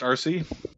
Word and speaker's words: RC: Is that how you wanted to be pronounced? RC? Like RC Yeah, that Cola. works out. Like Yes. RC Cola.